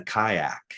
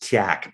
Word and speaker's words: kayak: I've been in a canoe, but I've never been in a kayak. Somehow we ended up out in the middle of the lake. I thought that the word was actually pronounced kyak, but no.